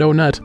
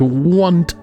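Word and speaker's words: Onett: near is near want I almost said onut that's not how you pronounce it it's pronounced want one of them is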